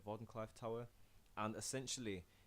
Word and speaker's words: Wardenclyffe: yeah he made the Borden Clyde Wardenclyffe I think he's pronounced Wardenclyffe Wardenclyffe tower and essentially it's